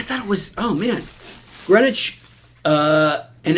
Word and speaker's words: Greenwich: don't know if I you don't say the W right how would you